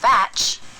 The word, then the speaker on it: batch: of badge is weak badge the ending of batch is stronger batch that's not the only difference